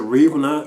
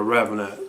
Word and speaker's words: The Revenant: like you know like pronouncing like oh it was a reeve not or was it revelant you know but from what i've been hearing it really is called the uh the revenant so this is my